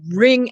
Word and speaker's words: wring: or i'm going to wring out my watch right see that twist that the sound is r with no w component at all don't don't pronounce it at all e er r but